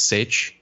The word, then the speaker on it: sej: Instead of saying seis for six, cinco for five, they say siete, and then for six, instead of seis, it's sech, which is spelled in English letters anyway, SEJ.